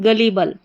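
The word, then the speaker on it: gullible: करके इसको नहीं पढ़ेंगे गली करके पढ़ा जाएगा जी यू ग डबल एल आई ली गली और बल बी एल इ बल तो क्या बन गई पूरी स्पेलिंग गलीबल गलीबल का हिंदी अर्थ होता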